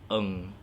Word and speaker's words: Ng: It's a Chinese name. Not a lot of expats out here knows how to pronounce it, but Ng.